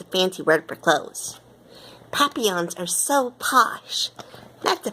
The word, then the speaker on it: papillon: You say it like this, papillon. In French, it means butterfly.